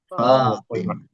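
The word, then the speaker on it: فاطمة: Yang panjang f-nya ya, bukan th-nya. Fatimah. Nah, seperti itu.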